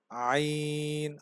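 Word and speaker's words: ع: আমি আবারও বলছি এখান থেকে صاد, ضاد, ط, ظ, আইন। আইন উচ্চারণের সময়ও কণ্ঠনালীর মধ্যখান থেকে একটু চাপ দিতে হবে।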